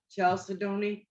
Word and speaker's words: chalcedony: That's Chalcedony.